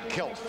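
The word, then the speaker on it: Kecalf: Spelled K-E-C-A-L-F and pronounced Kelf, as if the C is not there.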